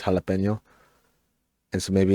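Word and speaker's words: jalapeño: It's probably like a jalapeno jalapeno or jalapeno kind of deal. Like they all kind of work, but there's really only one right way to say it, and it's jalapeno.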